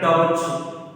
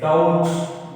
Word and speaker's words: doubt: It's not a doubt. It is a doubt. B is a silent letter.